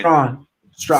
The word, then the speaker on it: Strachan: Is it Strawn or Strachan? Strawn. I always said Strachan. That's what I thought. Yeah, I always said Strachan, and I was wrong.